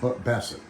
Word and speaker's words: Bassett: so Here, I'll show tell me, this is a Boss, right? Is that how you say it, Boss? Bassett.